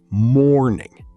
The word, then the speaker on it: morning: In the word morning, the stress is on the first syllable, morning.